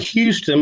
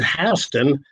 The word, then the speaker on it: Houston: that's my interval Jordan okay one looks like Houston but we pronounce it Houston County I'm about five miles from interstate 75